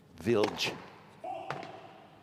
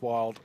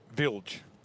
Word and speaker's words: Wild: Vilj. I should explain to our audience regarding the pronunciations. We do our best to pronounce the names as the players do, and it looks like Seyboth Wild for all money, and lots of conversations went